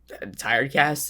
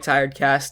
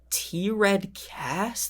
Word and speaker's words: Tired Cast: all that and they'll be like thank you t-red cass thank you for the five dollars i'm like how do you get that name wrong like i get some people who just